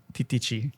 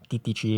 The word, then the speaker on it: Titici: Okay, how do you pronounce the brand of this bike? Titici. Titici.